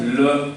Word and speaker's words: le: We pronounce it as le because in French last e is mute.